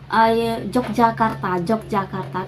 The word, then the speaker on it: Yogyakarta: Mungkin kayak contohnya di Yogyakarta, kita bacanya Yogyakarta tapi tulisannya tuh kita nulisnya tuh Yogyakarta, jadi emang ada pengaruh Belandanya gitu sih guys menurut aku ya.